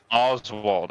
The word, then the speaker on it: Oswald: Oswald. Okay, thank you. But it's pronounced more with a V on the W because, you know, German man.